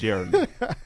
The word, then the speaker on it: Jeremy: It's not Jeremy. It's Jeremy. There are 3 syllables.